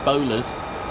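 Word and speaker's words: Bolars: The nickname, the Mad Hatters, locally known as the Bowlers, as in the bowler hat, but it is spelt B-O-L-A-R-S.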